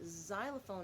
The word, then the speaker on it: xylophone: Now remember, the X sometimes has that Z sound like in xylophone at the beginning, or we have it